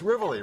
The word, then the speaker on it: Rivoli: The very first time was on the show, she said it's Rivoli, rhymes with Tivoli, Yes, right?